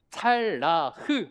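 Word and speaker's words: צלח: 원어 발음이 찰라흐. 한번 해보실까요? 발음도 어렵죠. 시작.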